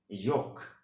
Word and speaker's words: yolk: In British English correct প্রনাউন্সিয়েশনটা হবে হচ্ছে ইয়োক। আমি আবার বলছি ইয়োক, একটু এরকম YOWK, ওকে, একটু লম্বা করে ইয়োক।